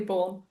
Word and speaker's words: Bourne: Bourne. Oh yes. Yes, like Jason Bourne.